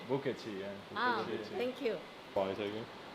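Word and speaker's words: 不客气: Bukechi, yeah.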